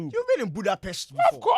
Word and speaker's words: Budapest: that they do how they pronounce it is Buddhapest. It's budapest.